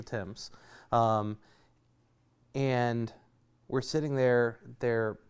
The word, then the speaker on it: Thames: of the Thames River if you're going to pronounce it right over there it's the temps and we're sitting there